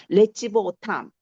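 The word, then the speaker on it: לְצִבְאֹתָם: 레찌보오탐. 아 레찌보오탐. 레찌보. 레찌보. 레찌보 오탐이에요. 자, 발음은 그렇게 돼요.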